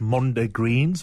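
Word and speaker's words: mondegreens: We were chuckling about, I think the right way to say it is Mondo Greens, when we mishear the lyrics of songs.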